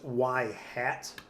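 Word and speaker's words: ŷ: top like right there that's usually pronounced y hat um so the reason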